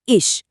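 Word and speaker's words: ich: फिर है इश नरम च के साथ यह बना इश चौथा जीबिन इसमें इ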